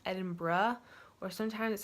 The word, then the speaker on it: Edinburgh: people say Edinburgh like you might have heard Edinburgh before but I learned when I got there that it's actually pronounced Edinburgh or sometimes it sound